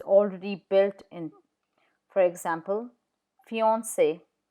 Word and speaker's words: fiancé: For example, fiancé, C in front of E is pronounced S. So fiancé or merci, merci.